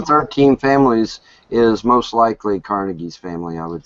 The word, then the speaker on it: Carnegie: families is most likely Carnegie's family I would say from the Muslim you don't know who Andrew Carnegie is either you wouldn't be laughing right it's pronounced carnegi whatever Cari you're laughing